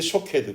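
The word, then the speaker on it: שׁוֹקֵד: 쉐케드. 그런데 이 쉐케드라고 하는 단어의 발음과 아주 흡사한 히브리어가 하나 더 있습니다. 쇼케드라고 하는 단어인데요. 쉐케드, 쇼케드 비슷하죠.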